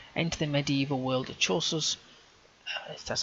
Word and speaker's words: Chaucer: Enter the medieval world of Chaucer's that's how you say his name, Canterbury Tales, where your journey and the stories you tell will change history.